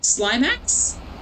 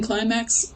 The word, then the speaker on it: climax: I nearly said slimeax as if the C in climax was a soft C.